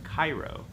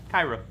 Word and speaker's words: Cairo: Okay, so say it like the city of Cairo. That's fine. Okay, Cairo.